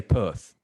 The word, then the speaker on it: Perth: we don't pronounce our we say perth you know we don't pronounce the r but americans pronounce it